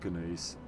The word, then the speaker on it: gneiss: That Gneiss stone? That Gneiss rock? That Gneiss stone? How do you say it? How do you say it? And someone's like, you say it like you do gnome.